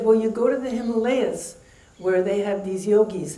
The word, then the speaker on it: Himalaya: So I went to the Himalayas, and I spent 3 years living in Himalaya, actually is the correct pronunciation, going from ashram to ashram and studying the traditional Indian yogas.